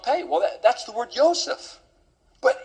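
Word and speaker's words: יוסף: It's actually spelled Yod Vav Samik Pei, but it's pronounced Yosef.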